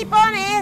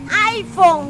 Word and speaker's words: iPhone: Es un es un ipone ipone no es ipone es iPhone Ah eso eso Ah Pero como se escribe como se escribe ipone no así no